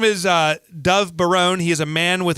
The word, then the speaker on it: Dov Baron: You know, the copy says pronounce it Baron. They put... All right, do not cut that part out. His name is Dov Baron.